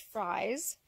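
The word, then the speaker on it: Frey's: So we ordered straight run from a hatchery in Ontario called, well, it's spelt like phrase, but I've been told it's actually pronounced fries.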